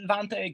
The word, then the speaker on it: Vante: Yes, Vante. Okay. So the first question is, how did Vante get together?